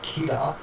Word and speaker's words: Kira: And even and even when you do pronounce it in Japanese, Kia, it sounds like killer.